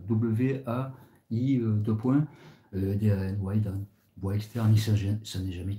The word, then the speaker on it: Waidan: Il était dans le Waidan, ça s'écrit W-A-I, deux points, D-A-N, Waidan.